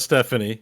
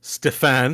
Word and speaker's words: Stéphane: No, that's not Stephanie. It's a French name. It's Stéphane. Oh, sorry, Stéphane. Okay, French version of Steven.